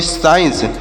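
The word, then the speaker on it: science: इसे क्या पढ़ेंगे देखिएगा यहां पर भी सी का उच्चारण नहीं होगा तो यस से पढ़ेंगे श आई से पढ़ेंगे ई और ई एन से पढ़ेंगे न और सी ई से पढ़ेंगे श तो इसे पढ़ेंगे साइंस और साइंस मतलब क्या होता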